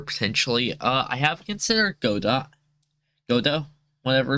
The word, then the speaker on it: Godot: uh i have considered godot godot whatever it's called um i have looked into godot a bit go though i'm just going to call it goda because i think that's how you pronounce it that's how i hear